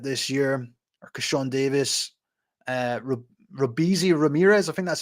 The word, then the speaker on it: Robeisy: And then Robeisy, Robeisy, I think that's how you say it.